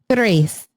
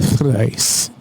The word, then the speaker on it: tres: Tres. No. Did I say it right this time, CJ? No, it's not TH. You said thrice. Tra. TR. You know she can't roll that tongue.